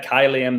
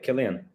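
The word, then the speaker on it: Kylian: Killian. Got the word kill in his name when the way you pronounce it.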